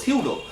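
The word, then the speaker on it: pseudo: সিউডো বানানটা ভালো করে দেখো, পি এস ই ইউ ডি ও, সিউডো। সো উচ্চারণ কিন্তু পি সিউডো না, উচ্চারণ হলো সিউডো।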